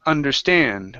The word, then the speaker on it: understand: one here is understand the stress is on the end of the word instead of understand it's understand which I myself did